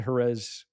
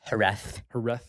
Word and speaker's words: Jerez: We just finished the Jerez Grand Prix race. Jerez. Good guess. Apparently Z's have a TH sound.